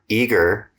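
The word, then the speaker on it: Eagar: Brian Owens, grew up in the quiet mountain town of Eager, Arizona. Did I pronounce that right?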